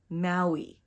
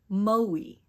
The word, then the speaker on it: Maui: see the difference in my mouth the incorrect pronunciation is Maui and the correct pronunciation is Maui no the fifth and last word in this